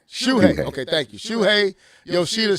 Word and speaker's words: Shuhei: Shuhei.